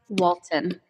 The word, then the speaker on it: Walton: Walton. I pronounced it correctly? You did. You did. It's like the family on TV, right? Oh my gosh. If you're old enough. I kind of know the Walton.